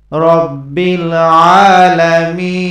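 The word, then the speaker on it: رب العالمين: আলহামদুলিল্লাহি, আলহামদুলিল্লাহি রব্বিল আলামিন, রব্বিল আলামিন। এখানে খাড়া জবর আছে, একালিফ পরিমাণ টান হবে।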